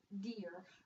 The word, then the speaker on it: dire: It's pronounced exactly the same. Dire, dear.